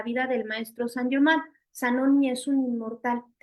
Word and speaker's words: Zanoni: ahí hay un libro que se llama Sanoni, que se escribe con Z y es un libro inspirado en la fraternidad Rosa Cruz, en particular, pues en la vida del maestro San Germán. Zanoni es un inmortal y